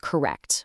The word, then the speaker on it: correct: Take the word correct, which locals use constantly to mean okay or fine. You actually drop the hard T at the end.